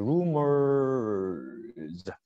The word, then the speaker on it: rumors: 그래서 rumors. 예, 이렇게 발음이 납니다.